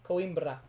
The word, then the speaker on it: Coimbra: Coimbra. What? Coimbra. There's no R. Coimbra. Okay. Coimbra. Coimbra. I can't roll my R's. Can you roll your R for me? Yep. Coimbra.